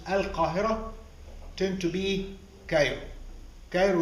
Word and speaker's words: al-Qahira: get many of the names either of cities places kings queens and individual Egyptians pronounced in the wrong way because of the difficulty of learning or pronouncing Arabic names so when the early travelers came here to Egypt and they couldn't pronounce al-qahirah tend to be kind